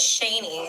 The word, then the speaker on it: Shaney: My name is Shaney, actually. Oh, how do I spell that? Um s h a n e y. Okay. Like Shane, but with a with a y at the end.